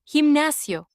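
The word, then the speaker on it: gimnasio: Himnasio. Himnasio. The he in this case makes the H sound. We know that the he also makes the hard G sound.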